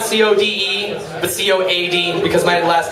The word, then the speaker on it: Coady: I love the spells not Co de the Coad because my last name is spelled VM Cody Coad why anyway now you